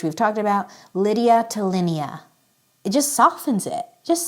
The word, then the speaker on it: Linnea: American will typically say Linnea I am going with Linea because I like how it feels similar to Lydia in this context okay Lydia which we've talked about Lydia to Linea it just softens it